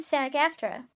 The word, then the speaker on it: SAG-AFTRA: So I was watching a podcast on the WGA SAG-AFTRA strike, pronounced WGA and SAG-AFTRA.